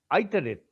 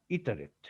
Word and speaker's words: iterate: এখন এটা ইটারেট হবে না আইটারেট হবে, দুটাই হতে পারতো, এই সাহেবরা কি করে, যারা ইংরেজি যাদের মাতৃভাষা তারা কিভাবে উচ্চারণ করে সেটাই আমাদের ফলো করতে হবে। তো আমরা ইচ্ছা করলে আইটারেট বলা উচিত হবে না, বলতে পারি, কিন্তু ইটারেট, সবাই ইটারেট বলে।